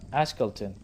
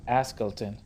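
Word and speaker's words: Ashkelon: leaning on his cane tell him it's uh ashkelton not askilton i found that unintentionally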